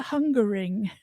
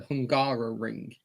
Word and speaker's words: Hungaroring: Picking that up, I agree with you about how do you pronounce the Hungary sort of Formula One, because it's called the Hungaring. Yeah, it's the Hungarian Grand Prix. It's the Hungaroring.